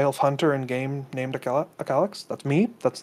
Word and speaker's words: Akalix: Second off, how I just realized that we've been mispronouncing your name this whole time. Akalix, not Akalix.